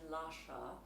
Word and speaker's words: Lascia: And so even when you see, sometimes an I is there to soften a C, as it is in Lascia, so you don't pronounce that I at all.